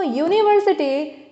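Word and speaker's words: university: that is अ vowel but इट इज not pronounced as vowel it is pronounce ए consonant यूनिवर्सिटी इट इज यूनिवर्सिटी ठीक है तो यूनिवर्सिटी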